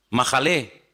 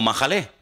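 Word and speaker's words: מחלה: ahí, mejilá y majalé, en hebreo se escriben sin vocales. Se escribiría una M, una J y una L, porque no hay vocales en hebreo. Es decir, que la misma palabra se puede leer como mejilá o se puede leer como majalé.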